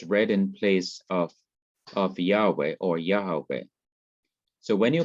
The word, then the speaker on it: Yahweh: calling the divine name yahweh or yahweh is thought to be the correct pronunciation of god's personal name but when the inseparable